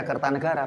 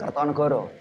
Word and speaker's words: Kertanegara: Membacanya ya Kertanegara bukan Kertonegoro.